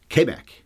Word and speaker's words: Quebec: Although if you think about it, here in Canada, Quebec is actually pronounced, apparently, Quebec is how they would say it. The French would say it. We always say Quebec.